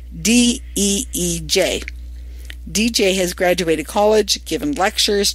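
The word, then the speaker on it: Deej: It's called DJ, which is spelled D-E-E-J. DJ has graduated college, given lectures, directed plays, and written articles.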